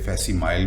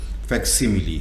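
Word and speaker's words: facsimile: باری آتی ہے جی انگریزی کے لفظ فیکسیملی کی، جس کو ہمارے ہاں غلطی سے فیسیمائل بھی کہتے ہیں۔ یہ صحیح تلفظ فیکسیملی ہے۔ یہ دراصل کسی دستاویز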